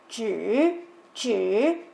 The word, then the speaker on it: 只: y se pronunciaba chui, de ahí la pronunciación actual, que es zhi.